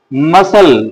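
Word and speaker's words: muscle: মাসল। এটাকে মাসাল করা যাবে। এম ইউ এস এলই মাসাল সিটা উচ্চারণ আসবে না।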